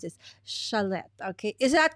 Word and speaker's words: Schlette: It's Schlette. Okay, that's how you pronounce it. Schlette.